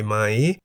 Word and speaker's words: ม้า: On the other hand, we have Ma, meaning horse, in the high tone because the single syllable in the word Ma begins with a low-class consonant Ma and has the tone mark Mai To.